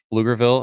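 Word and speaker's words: Pflugerville: just north of Austin little town called lugerville it's actually spelled with a PF in front so it's like a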